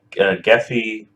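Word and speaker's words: Gephi: of it so I'm using a program called geffy I think that's how you pronounce it it's g-e-p-h-i and it's a a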